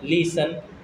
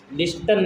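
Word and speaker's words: listen: अभी तुम इसमें टी का साउंड आ रहा है, लिस्टन बोल दो तो टी साइलेंट होता है, लिसन होता है, टी नहीं बोलते, लिसन होता है।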